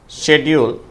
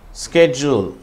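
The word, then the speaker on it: schedule: British உச்சரிப்பு ஷெட்யூல், அமெரிக்கர்களுடைய உச்சரிப்பு ஸ்கெட்யூல்.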